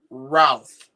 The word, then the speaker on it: Routh: name of Ryan Wesley Routh. I think that's how it's pronounced. Like, instead of saying South, it's Routh, Like Brandon Routh from Superman Returns.